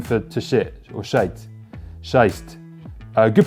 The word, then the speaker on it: Scheiße: Scheist. Good pronunciation, by the way.